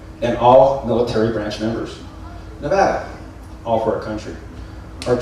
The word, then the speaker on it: Nevada: Home means Nevada, pronounced Nevada.